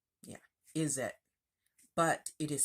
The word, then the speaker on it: izzat: that is is that that's how it's pronounced pronounce it is it yeah is it but it is spelled i z z a